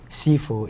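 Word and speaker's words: 師父: And Sifu is the Cantonese version of the Chinese word.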